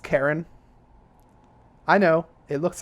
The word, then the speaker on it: Charon: I guess is you guys gonna laugh it's pronounced Karen I know it looks like char on and that's how I pronounced it before but